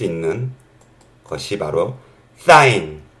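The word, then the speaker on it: sin: 때는 말이죠 쓸 때는요 사인 같은 경우는요요 요것만 써요 si n 너희 죄를 알라신이 아니라 이거 그냥 사인이라고 읽고 코사인 이것도 세 자만 써요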